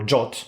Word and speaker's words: JWT: JOT because he's like, there's no O in the JWT, but in the RFC, they also say you can pronounce it as JOT.